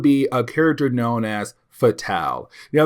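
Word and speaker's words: Fatale: known as fatal now the reason why I'm saying fatal is because she is French I want to say and she is a European assassin in French they say it like that now I could be wrong could be fatal but I think it's fatal because of French either way though she's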